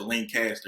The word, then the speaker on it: Lancaster: pretty much don't ever they get upset when you call it Lancaster, even though it's spelled is Lancaster. You gotta say Lancaster.